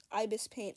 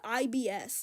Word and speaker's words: Ibis Paint: Dude, I used to pronounce it IBS. Like, I would not have the second I, and it would sound like I'm saying irritable bowel syndrome.